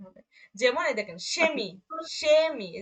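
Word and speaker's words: Chemie: ইয়া তালবীয় শ এর মতো উচ্চারণ হবে। যেমন এই দেখেন সেমি, সেমি, এই যে শব্দের শুরুতে আছে, সেহাটা শব্দের শুরুতে আছে, সেমি, সেমি মানে রসায়ন, কেমিস্ট্রি যেটাকে বলি।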